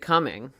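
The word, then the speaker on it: Cumming: not Talladega it's Dahlonega Alana go he's coming pronounced just straight up coming am I right about that yes it has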